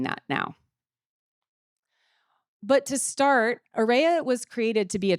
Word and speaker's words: Arraya: The term AREA, and it is pronounced AREA, reflects an array of all of our diverse learners, but also the array